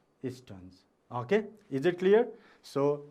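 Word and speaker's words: Stearns: Okay, you have to pronounce as Champey. And last name is S-T-E-A-R-N-S, Stones.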